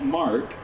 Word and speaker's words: Marquee: The Corvette Marquee Club, pronounced Mark, of Seattle, and marking its 60th year as one of the oldest Corvette clubs in America.